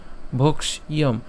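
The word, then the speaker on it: ভৈক্ষ্যম: মূর্ধন্যস সাথে কি আসবে ইয়ম আসবে তাহলে ভক্ষ ভক্ষয়ম তাহলে আমরা এখানে ভোক্স এই জায়গাটাকে পুরোটাকে একসাথে আমরা খিয় পর্যন্ত উচ্চারণ করে ফেলতে পারি অর্থাৎ না ভেঙে সরাসরি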